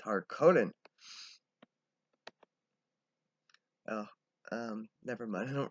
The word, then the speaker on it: Harkonnen: It's Harkonnen.